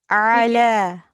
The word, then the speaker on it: على: it's we pronounce ayn from our throat. Ala.